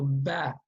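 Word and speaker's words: بَ: try to read it with that sound, with the a sound, a as in apple. So ba, okay?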